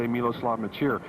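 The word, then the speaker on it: Miloslav Mečíř: how to pronounce his name in fact it's pronounced a lot of different ways but we say miloslav maer he is a wonderful player moves around very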